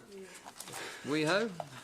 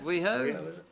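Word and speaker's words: Wheeo: Old weho Road Causeway weho I'm not too weho silent h i don't know why they don't write that for me that they didn't write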